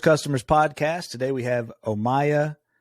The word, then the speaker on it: Omayya: Today we have Omayya Atout, founder and CEO of Songlorious.